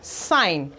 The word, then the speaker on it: sign: Letter G is silent when it comes before N. Now from the examples we have sign.